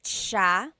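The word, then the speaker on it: siya: means you are nice Ma and then ma sha he or she sha a couple things I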